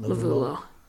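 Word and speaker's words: Lovullo: Lovulo.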